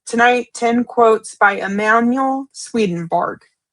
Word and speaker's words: Swedenborg: 10 divine quotes by Emanuel Swedenberg sent in by our beloved brother Darren Carter in the UK. Okay. Um, just to say his name again, it is Emanuel Swedenborg.